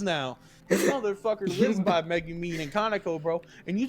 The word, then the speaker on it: Megumin: think it's Megamin. Oh my god, it's Megumin, you dumb Californian fuck.